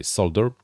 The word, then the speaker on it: solder: soldering iron or the soldering iron like my American friends would say but over here in the Europe we kind of rather say solder because there's an l and we kind of like to pronounce our letters but but that's the